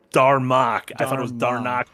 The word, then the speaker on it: Darmok: And I believe it's Darmok.